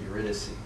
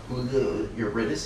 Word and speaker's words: Eurydice: The playwright Sarah Rule pronounces it Eurydice. I guess it's an American pronunciation. All the singers I work with are like, Eurydice, they're so used to singing it in Italian.